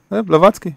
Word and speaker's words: Blavatsky: How do you pronounce the surname? Yeah, Blavatsky, exactly.